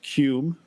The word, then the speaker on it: QM: And then I have a collaboration with a guy called Cume, which is spelled QM, and he's from San Francisco.